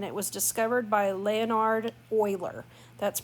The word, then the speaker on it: Euler: It does not end or repeat, and it was discovered by Leonhard Euler. That's pronounced Euler, not Euler. It is called the natural base e, or the Euler number.